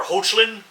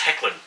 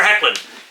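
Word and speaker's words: Hoechlin: I always thought it was Tyler Hochlin. Apparently, it's pronounced Heckan, even though it's spelled H O E C H L I N. Tyler Heckan, who guest starred as Superman on the Supergirl series.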